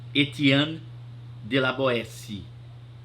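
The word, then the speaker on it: Étienne de La Boétie: se pronuncia desse jeito se escreve étienne Etienne de la boetie e mas se pronuncia este ano de laboeci muito bem mas ele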